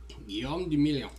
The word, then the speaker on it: Guillaume Le Million: Guillaume de Million. If it doesn't rhyme, You're not pronouncing it right.